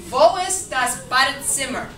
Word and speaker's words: Wo ist das Badezimmer: Wo ist das Badezimmer?